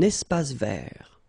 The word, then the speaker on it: espace vert: Final E not pronounced and then final T not pronounced. Un espace vert.